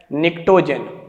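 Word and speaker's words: pnictogen: 15th group का नाम, नाना पापा आंटी सब ग्रुप का नाम है निक्टोजेन, निक्टोजेन, जहां पी साइलेंट है।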